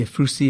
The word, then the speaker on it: Ephrussi: In your next letter, you introduce us to your family, the Ephrussi, if I pronounce it correctly, Ephrussi family. That's correct, yes.